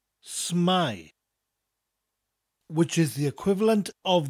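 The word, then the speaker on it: s'mae: North Wales they often abbreviate sit my to smile spurt s apostrophe ma e smile which is the equivalent of the English phrase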